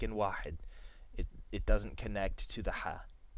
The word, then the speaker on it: واحد: And without anything on it, this is an alif in واحد without a hamza on the top or the bottom. It just makes a long A sound. واحد, واحد.